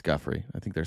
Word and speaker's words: Giuffre: President, did one of those stolen, persons, that include Virginia Giuffre?